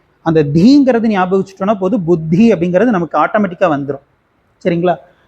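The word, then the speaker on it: बुद्धि: யூஸ்வலா எப்படி சொல்லுவோம்? புத்தி அப்படின்னு சொல்லுவோம். தப்பு. புத்தி சுவாமிஜி எத்தனை தடவை அந்த தீ சொல்லி கொடுத்துருப்பாரு. ஒவ்வொரு தடவையும் சுவாமிஜி தீன்னு தான் சொல்லுவார், தீன்னு சொல்ல மாட்டார். அப்போது இது வந்து 4வது தி. அப்போ பு இத்து தி, புத்தி, புத்தி இப்படிதான் சொல்லணும்.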